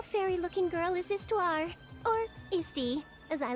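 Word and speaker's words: Histoire: forgive you today it's isty this small small fairy looking girl is istar or YY as I like to call her not sure why the H isn't pronounced on that but it's fine they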